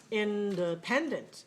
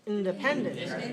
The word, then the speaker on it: independent: many syllables independent okay where's the stress three three step three so make sure that one is clear pen pen pen all right that's clear and also we have our secondary stress that means the vowel is clear in the first syllable but it's weak i mean